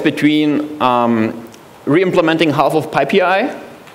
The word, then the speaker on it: pip: So, so you you have basically the choice between um reimplementing half of Pippi which is not pronounced pi and or or you end up with a cluster of system packages and um self-installed once.